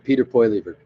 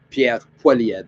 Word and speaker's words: Pierre Poilievre: But I watched the a guy made a video on Peter Poilievre. Pierre Poilievre is the way you say his name.